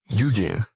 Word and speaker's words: Eugene: Eugene, con el acento en la E final, que sabía aspiraciones artísticas no correspondidas.